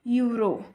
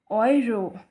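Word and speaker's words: Euro: वाई ओय for example it's नॉट यूरो इसे हम कहते हैं यरो ई यू को ओ वाई से रिप्लेस करेंगे और यह बनेगा ओयरो देन दिस इज बॉय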